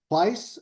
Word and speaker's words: Pice: uh second uh pice as he says rhymes with ice um uh brings